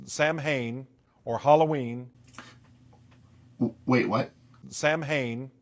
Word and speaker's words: Samhain: you as well sir sam hayne am i supposed to be impressed it's pronounced samhain and he should know that